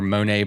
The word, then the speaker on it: Moné: who's not familiar with Money Bikes or Monae bikes or however you want to pronounce it both are correct.